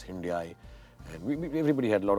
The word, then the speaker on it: Hyundai: A lot of talk about how it should be pronounced Hyundai. They told me like Sunday. We obviously pronounced it as Hyundai.